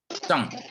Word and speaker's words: 沧: Ini cang, ini bacanya cang, jangan cang. Cang. Shanghai ya, cang ya, Shanghai.